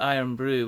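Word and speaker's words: Irn-Bru: a traditional Scottish drink called iron Brew which is spelled i r n b r u which um became famous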